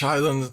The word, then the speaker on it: island: okay new island H Island I hate the word Island because there's a ass in there and you don't need to pronounce it it's just Islands instead